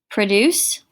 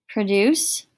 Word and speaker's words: produce: Guys, this can actually be pronounced 2 different ways. Produce, right? Produce. And produce. Slightly different.